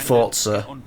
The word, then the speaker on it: Forza: one forza i'm sorry i know they pronounce it forza but there's no zip there's no tea though retracing in for this i'll always call it false the power of the